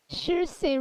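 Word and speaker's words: Saoirse: No, that's not how you spell it. It's Niamh. Shirsei Ronan is a name that I enjoy.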